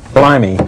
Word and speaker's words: Blimey: tell me about this blimey if this is a this is a look at the london art scene yeah pronounced as dick van dyke would pronounce it yeah it's uh the